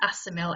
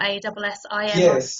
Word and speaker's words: Assimil: I think it's pronounced Assimil, Assimil.